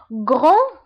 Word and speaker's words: grand: الصفة الثالثة grand grande. في الماسكولين grand والفيمينين grande. بالنسبة لغران هي كبير، و grande هي كبيرة. دونك grand ما كنطقوش دي grand، ولكن في الفيمينين كنطقوها، كنقولو grande.